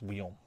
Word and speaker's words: Wyon: And this side was designed is a second rendition of Victoria, and it was designed by Leonard Charles Wyon. I think that's right. How to pronounce the Wyon?